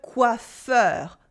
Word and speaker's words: coiffeur: And that's mainly the words ending in EUR. EUR. Then we always pronounce it open like heure. Like le coiffeur, the hairdresser.